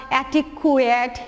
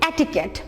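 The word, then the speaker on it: etiquette: আমি এব্রাফটলি বলতে দেই তুমি হয়তো বলবা অ্যাটিকুয়েট অ্যাটিকিউট লাইক দিস উচ্চারণটা কি অ্যাটিকেট উচ্চারণটা হচ্ছে অ্যাটিকেট বাংলা হচ্ছে আমরা লিখেছি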